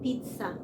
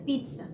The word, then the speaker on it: pizza: اليس في الات لانج بيتنطق تي اس وهي اصل البيتزا ايطالي يعني هس ان هو ايطالي هما اصل الاكله فهي الاكله اسمها ايطالي اصلا يعني احنا بقى بنمس بنعرفها اوكي لكن هي المفروض بيتزا هتنطق اوها باي لغه هي بيتزا اوكي طيب محل البيتزا عشان